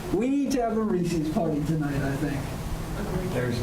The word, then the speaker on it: Reese's: We need to have a Reese's party tonight, I think. There's none in the bucket. WPAA, where were you with this candy? I needed Reese's tonight. Reese's! Remember that. It's not pronounced Reese's, Reese's.